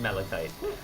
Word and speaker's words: malachite: Shame here malachite tactile no matter whether you're using American or British English it's malachite it's all right to be